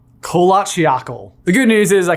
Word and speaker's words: Kholat Syakhl: - Kholat Syakhl. - Kholat Syakhl.